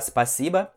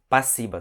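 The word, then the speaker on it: спасибо: Ao invés de falar spasiba, eles falam passiba, simplesmente passiba, tá?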